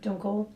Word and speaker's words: Dunkel: So this is a Dunkel or Dunkel lager, Uh-huh. if you want to be traditional about it, with the proper pronunciation, which just means dark lager.